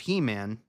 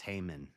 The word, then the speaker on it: Heman: And of the sons of Heman, Jehiel, I think that's Haman, actually. And of the sons of Haman, but it's spelled Heman.